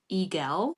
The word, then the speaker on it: Eigel: I think they're pronounced Eigel. It looks like Eagle, but it's not that.